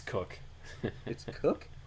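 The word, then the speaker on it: Koch: how they pronounce it it's cook k och yep okay tough guy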